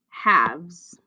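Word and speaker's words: halves: remember what it's called haves have's has a silent l in the word number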